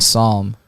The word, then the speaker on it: Psalm: I think the last one is a P, but it's not pronounced like that.